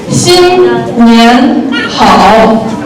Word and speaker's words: 新年好: And how do you pronounce it? 新年好.